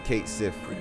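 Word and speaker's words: Cait Sith: life I never imagined cat Sith was Scottish Fortune teror extra so they do pronounce the ey they call him Kate Sith that's why I used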